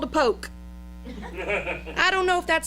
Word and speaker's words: poke: where a brown paper bag was called a poke. I don't know if that's spelled P-O-K-E or P-O-L-K, but it's pronounced poke.